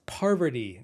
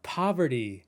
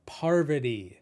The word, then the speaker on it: Parvati: And in the end, on your way out, don't forget, it's pronounced Parvati, not poverty, Parvati.